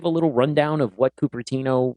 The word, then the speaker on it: Cupertino: Is it Cupertino or Coppertino? Yeah, in Cupertino. Cupertino.